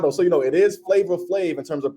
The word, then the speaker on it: Flavor Flav: you know it is flavor flave in terms of pronunciation but in terms of how you write it it is you write it like flab f laav v so it is flavor flave though so yes but uh